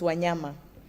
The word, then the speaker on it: Wanyama: my name is wanyama and wanyama means animals in Kenya yeah so it it it will be easier to pronounce it now it's wanyama I'm a senior technical